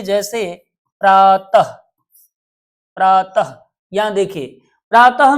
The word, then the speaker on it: प्रातः: एक एग्जांपल और देखिए जैसे प्रातः प्रातः यहां देखिए प्रातः में त के बाद ये विसर्ग आया है। यह ह जिसका उच्चारण हम ह करते हैं। जैसे प्रातः तो ह को ह का उच्चारण हो रहा है यहां पे तो एक